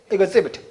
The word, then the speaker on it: exhibit: 발음 되게 중요하죠? 따라해볼까? exhibit. 발음 조심하시고 HAB 뭐라고요?